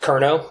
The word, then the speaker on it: Cerno: So this tool is actually pronounced Cerno, but I don't care which way you pronounce it.